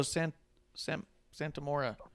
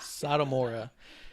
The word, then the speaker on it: Satomura: because we did have Kaylee Ray against Miko Santamora. Fuck. I said her name wrong, I'm No. sure of it. I'm waiting for Peacock. What day is Peacock happening? You and the peacock. Satomora.